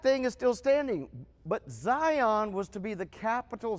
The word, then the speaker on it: Zion: So Zion is how it's pronounced in Hebrew. Zion in English. Zion. And the letters that spell it, it's a TS sound.